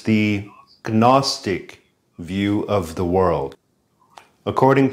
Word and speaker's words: Gnostic: At first, I thought he was saying agnostics. But he's trying to say Gnostics. He's trying to say the G.